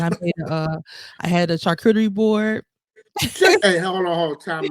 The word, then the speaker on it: charcuterie: But I think it's charcuterie.